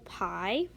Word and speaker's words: pi: is they have to do with this symbol pi okay so it looks like this that's one way to draw it it's pronounced PI like p ie okay I mean